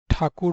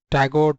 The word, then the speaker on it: ठाकुर: हो गए, क्योंकि जैसे आप ब्रिटिशर्स ठाकुर नहीं बोल पा रहे, तो टैगोर टैगोर बोलने लगे, तो अब अभी हम रविन्द्रनाथ टैगोर बोलने लगते हैं, ठाकुर नहीं बोल पा रहे।